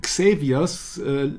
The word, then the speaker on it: Xavier's: can you imagine that it's Xavier's sounds phonetically identical to savior right that's right today